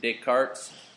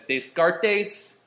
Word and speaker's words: Descartes: once in a while uh and will intentionally mispronounce this guy's name as Descartes like all the time I love it Descartes